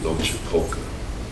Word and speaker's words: Loachapoka: When I was back at Loachapoka, did I pronounce that correct?